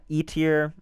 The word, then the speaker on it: Eitr: There's a couple, Ronin, E-Tier, I think that's how you say it. It's EITR.